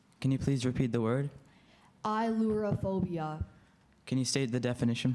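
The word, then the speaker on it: ailurophobia: Ilorophobia.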